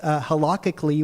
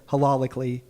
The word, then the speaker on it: halakhically: He says halakhically, which I mispronounced on my TikTok, is very embarrassing. I said halalically.